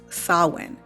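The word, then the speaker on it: Samhain: this festival and in the English language is pronounced as sawwin but is written out s-a-r-w-i-n but due to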